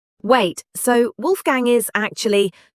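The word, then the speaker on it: Wolfgang: In German, W is pronounced like the English V. Wait, so Wolf Gang is actually Wolf Gang. Yes. Wolf Gang Amdus Mozart has been mispronounced by the entire English-speaking world.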